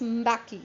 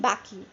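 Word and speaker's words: Mbeki: happened then tabum baki it is pronounced as baki fine listen to it carefully thabo baki was sworn in as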